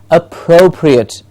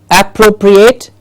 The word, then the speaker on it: appropriate: the plosive / yes appropriate not appropriate we hear it many times being pronounced as appropriate is an app it's up and the pro gets the stress appropriate appropriate yes appropriate